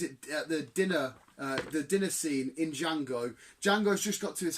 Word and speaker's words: Django: I only say Django because the guy in it. Django. The D is silent.